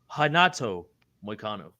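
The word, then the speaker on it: Renato Moicano: Hanato Moicano.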